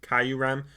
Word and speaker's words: Kyurem: Kyurem.